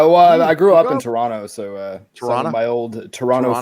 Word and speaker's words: Toronto: it tonor ton ton you just don't pronounce the last T Toronto okay Toronto got it